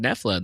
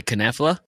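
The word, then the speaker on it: Knoephla: How do you say the word Nefla then? It's a silent K. Do you say Knefla?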